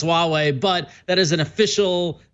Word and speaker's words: Huawei: first answer it says although the Mandarin romanization is normally pronounced Huawei Hwa - waa why